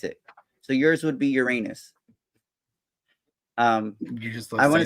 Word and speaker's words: Uranus: studying astrology I'm like it's not Uranus, it's Uranus, right? Thinking that that was the more proper way to say it, but it's not. It's Uranus. There's no getting around it. That's how you say it.